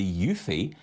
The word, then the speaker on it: eufy: and tidy and that's why I've chosen the yui and that's spelled EU ufy cordless handheld vacuum yes I